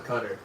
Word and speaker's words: Qatar: It's actually pronounced cutter. Yeah, it's pronounced cutter. Well, you're going to cutter in Asia.